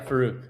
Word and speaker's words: Faruq: Is it Farooq? Yeah, Farooq. That's how you pronounce it.